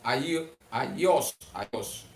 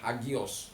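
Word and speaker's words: ἅγιος: Atau Aios. Kalau orang sering bilang Hagios ya. Tapi pronunciation yang benar itu Aios.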